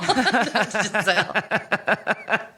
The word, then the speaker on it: Giselle: Giselle. Literally. Giselle. Mm-hmm. What's the animal? Bunchin. What's the animal? Bunchin. You just like saying bunchin. Gazelle. Gazelle. Animal. Giselle.